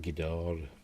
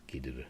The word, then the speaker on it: Ghidorah: I always pronounced it Ghidorah, but apparently it's Ghidorah, isn't it?